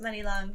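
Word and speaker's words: Muni Long: Yeah, because it is pronounced Money Long.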